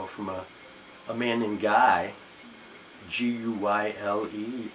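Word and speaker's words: Guyle: a man named Guy, G-U-Y-L-E spelled, so I don't want to pronounce it wrong, but I believe it's basically Guy in American or English, and he's Hungarian, and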